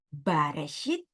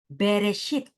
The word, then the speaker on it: Bereshit: Perhatikan, pada Kejadian 1 ayat 1 ini, orang Ibrani tidak membacanya dengan Bareshit, tetapi membacanya dengan Bereshit.